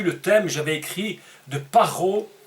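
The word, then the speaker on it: פרעה: Ro, dans ce cas, qu'on prononce Ro ici, qui veut dire le mal. À d'autres moments, il se prononce Ra, comme dans le livre de Bereshit, l'arbre de la connaissance du bien et du mal, Tov Vera. Ici, on dit Paro.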